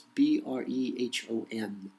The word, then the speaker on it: Brehon: I don't pronounce that well. It's Brehon, if you can even find them anymore.